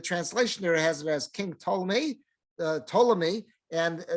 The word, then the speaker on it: Ptolemy: there has as king Ptolemy Ptolemy and I think it's always a silent P I don't I'm not I'm not aware of anyone pronouncing that P but uh that's how